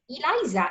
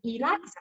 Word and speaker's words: Eliza: Whoever is brought up in English speaking country is gonna read it and say Eliza, E-L-I-Z-A, Eliza, right? But where I come from, the name is spelled and pronounced Eliza, and it is spelled